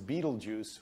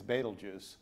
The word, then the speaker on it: Betelgeuse: And so many Americans pronounce it as Beetlejuice when it's Betelgeuse.